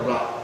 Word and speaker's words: را: الف اور لام اور را تین ہیں، ہمارے یہاں رے کہتے ہیں جبکہ اصل تلفظ اس کا را ہے، جیسا کہ یہاں بالکل